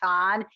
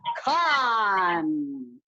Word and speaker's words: Khan: He said I mispronounced Khan. It's not Khan, it's Khan.